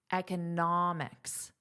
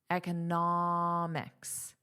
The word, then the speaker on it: economics: Now remember, it's the vowel that you will hear the longest and loudest. Economics, economics, economist, economist.